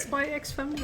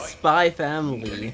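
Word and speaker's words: Spy × Family: uh ask tequila now how do you pronounce spy x family then is it is it spy x family or spy family it is spy family just by family okay i learned something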